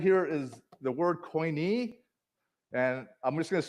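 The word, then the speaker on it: Koine: Right here is the word coin. And I'm just going to spell it out.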